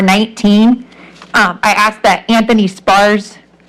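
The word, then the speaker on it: Spahr: Spar's name. It's spelled S-P-A-H-R, and it's Anthony Spar.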